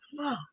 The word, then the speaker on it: pho: And so then Lynn told me, I said, I know I'm not pronouncing it right. And she said, no, it's pho.